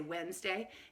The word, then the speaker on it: Wednesday: is so long Wednesday but it's really witness day we just usually leave that second syllable out it's actually three syllable ORD but most people say Wednesday instead of saying when this day so capital W e